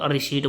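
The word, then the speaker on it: receipt: ही तो रसीद मिलेगी, उसको हम तो रिसीट बोलते हैं उसको इंग्लिश में, उसको वैसे पी साइलेंट होता है इसके अंदर।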